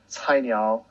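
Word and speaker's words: Cainiao: for logistics coordination uh that company is called tinyau which is spelled c-a-i-n-i-a-o um maybe sharon and chloe later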